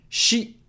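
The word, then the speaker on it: し: try to avoid that she is pronounced like Sheen sheep take note that this is the first exception Canada that doesn't follow the patterns that show up everywhere else instead of being C it's she how to remember she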